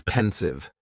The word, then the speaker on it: pensive: Next is pensive, and the pronunciation is very easy, just 2 syllables, and the stress is on that first syllable.